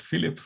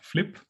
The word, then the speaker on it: FLIP1: Initially, I thought it was called Philipp, but sadly it's pronounced Flip.